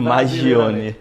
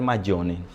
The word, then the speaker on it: Maggione: Brasileiramente falando, Maggioni. Porque é um sobrenome italiano. Isso, mas a pronúncia correta é Maggioni.